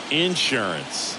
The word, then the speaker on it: insurance: Grisham looking for some insurance or as our friends down in the South would say insurance no matter how you say it we know what you mean in there in its